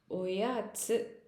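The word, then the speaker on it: おやつ: ஒயாச்சு. ஒயாச்சு. இந்த ச்சு, யா இதெல்லாம் நம்ம பின்னாடி அடுத்தடுத்த வரிசைகளுடைய வீடியோவில் பார்க்கலாம். இங்கே ஒயாச்சு, இட்ஸுன்னு போட்டிருக்கேன். ஆனால் நம்ம சொல்லும் போது இட்ஸு, ச்சு, இந்த எழுத்து ச்சு அப்படின்னு ப்ரொனவுன்ஸ் பண்ணுவோம்.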